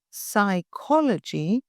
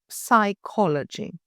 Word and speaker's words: psychology: Say psychology, not psychology.